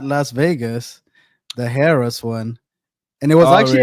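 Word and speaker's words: Harrah's: I don't know how you say it Harris Entertainment Harris.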